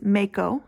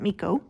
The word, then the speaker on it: Mako: the main character Mako it is Mako not Miko Mako um where we